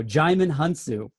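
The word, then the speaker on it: Djimon Hounsou: Played by Jaimin Hunsu. Oh, I like it. Say it again. We just looked that up, how to pronounce that before the show. Jaimin Hunsu.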